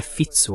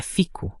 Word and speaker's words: Fico: Você tem o fico, aliás, é assim que se pronuncia, não é fitso ou algo assim, é fico com o falso sotaque da BBC.